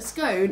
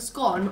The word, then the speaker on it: scone: a massive debate of whether a scone is pronounced a scone or a scone I think it's scone most of my friends